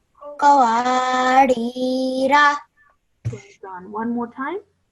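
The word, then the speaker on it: قَوَارِيرَا: Now when you're reading in continuation, you do not read the Alif Zaida. So I will pronounce it as Qawarira. Qawarira.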